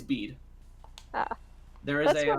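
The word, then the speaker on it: Bede: of that definitely betty how do you say it is it just beat or is it beatty it's bead ah there is a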